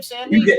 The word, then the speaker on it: Sandy: Is that how you pronounce your last name, Sandy? You got it right.